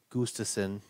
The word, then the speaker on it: Gustafson: Jacob Gustafson, he's apparently been making a big deal about the F is silent, so it's Gustafson.